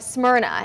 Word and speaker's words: Smyrna: It's pronounced like Smyrna.